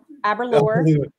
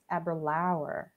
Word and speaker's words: Aberlour: Aberlour. They say Aberlour a lot here. Like it's like flower, rhymes with flower. Aberlour.